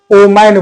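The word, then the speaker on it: woman: इसका जो प्रोनाउंसिएशन है लोग वुमेन बोलते हैं वुमेन गलत है वुमेन नहीं होता है वुमन होता है वुमन वुमन तो इसमें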